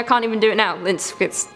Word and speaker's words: Lindqvist: Lindquist. Stop saying Linquest. It's not Linquest. Chris thinks it's Linquest.